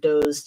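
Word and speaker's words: Doxe: The Doge was called Doze, D-O-X-E, but pronounced like Doze, D-O-Z-E.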